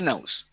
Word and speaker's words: nose: Pues se escribe así, pero se dice nose.